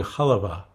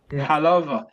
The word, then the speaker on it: halva: Halva. How do you How do you say it? Halva. Halva. We We grew up saying halva. Halva. That's how we said it in our family.